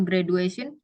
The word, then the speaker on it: graduation: Kalau graduation, tulisannya graduation. Itu bacanya graduation. Graduation. Benar kan? Jadi bacanya bukan D ya, bukan graduation, bukan graduation.